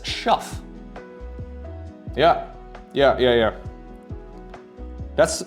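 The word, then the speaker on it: Schoof: called dick dick which in English his last name would be pronounced as schu yeah yeah yeah yeah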